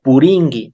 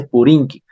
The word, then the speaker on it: purinki: G de igual manera puringue termina en nk y se dice puringui no se no se dice purinki sin embargo en la escritura va con la k pero en la pronunciación va con la g y Bueno amigo esto